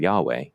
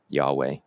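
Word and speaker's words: yawe: And Anishinaabe, in their the language is Bodwewadmiwin, they have the term Yahweh, y a w e, Yahweh.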